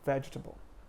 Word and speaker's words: vegetable: the word vegetable vegetable so you say just vegetable you don't say vegetable or any you know variation of that it's there's a rhythm to it like vegetable vegetable you stress the first syllable vegetable and the same goes